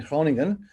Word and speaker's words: Groningen: university medical center in hronington that's groningen but pronounced in dutch and they would love